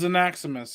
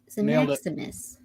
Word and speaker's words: Xenaximus: It's Xenaximus. He told me. Yeah, it's got to be Xenaximus. He told me. He said Mike said no. He said Mike said it right.